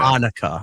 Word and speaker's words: Hanukkah: Hanukkah. I said Januka. I know it's Hanukkah.